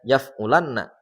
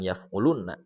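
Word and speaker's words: يَفْعُلَنَّ: Ketika bertemu dengan nun taukid sakilah maka dibacanya yaf'ulanna bukan yaf'ulunna. Kemudian yang kedua nun taukid khofifah.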